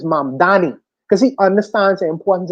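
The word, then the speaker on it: Mamdani: My name is the name is Mam Dani." And he made the the last mayor, I forget his name now, the white guy, the Italian man now. See, he made he made him pronounce his name correctly. Correctly. His name is M Danny because he understands the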